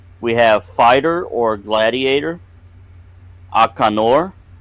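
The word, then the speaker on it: Akaanur: We have fighter or gladiator, Akanor, spelled A-K-A-A-N-U-R, Akanor.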